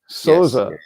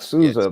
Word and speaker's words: Sousa: pronunciation of the name it's the pronunciation of your name soza not Susa but in the United